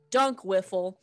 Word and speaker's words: Dunk Wiffle: Dunk Wiffle. Like basketball dunks and wiffle balls is exact. It's spelled just like that. Wally Dunk Wiffle, who owns the tavern Wally's Waffles and Wargs.